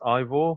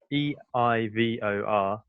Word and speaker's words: Eivor: I think it's pronounced Ivor. It's Eivor. Okay.